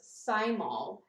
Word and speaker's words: thymol: ingested but it it it uses thymol as a as a thyme or a thyme oil i think the h is silent but whatever and you're